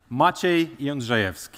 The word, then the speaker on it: Maciej: So how to pronounce it? It's general something like that machev but as it is